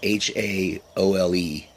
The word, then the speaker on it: haole: So, haole, it's like H-A-O-L-E, and it's pronounced haole.